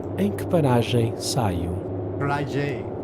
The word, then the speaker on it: paragem: That's paragem. They're definitely not saying M like a hard M. Em que paragem saio?